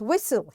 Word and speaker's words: whistle: and the word is whistle here T is silent buer T is silent